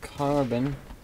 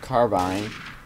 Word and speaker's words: carbine: Playing with the M4 carbon. The carbon. Even though it's pronounced carbine.